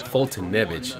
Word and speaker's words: Foltynewicz: He's Foltynewicz.